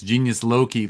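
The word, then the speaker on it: Genius Loci: And you for can anyone watch it, listening, it's Genius Loki. Loki is spelled Loci, so you can look it up.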